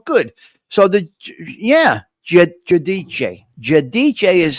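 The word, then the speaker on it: Giudice: Judiche is how you say it.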